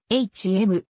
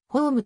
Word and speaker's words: Holm: はイギリスの俳優なお生の発音は hm でありホームと表記する方が近いイングランドエセックス州に